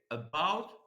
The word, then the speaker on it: about: at the word about why the second part of the word is stressed why it is correct to say about whereas for example abot or any other pronunciation is considered incorrect so here because we